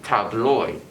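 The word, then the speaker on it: tabloj: jiren and other languages a j after an o in esperanto is pronounced as oi like in boy or toy right so where table is tableau tables would be tabloid adjectives adjectives this one's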